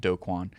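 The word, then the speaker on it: Do Kwon: red notice for tara's duquan so some people pronounce it dokwan so this is a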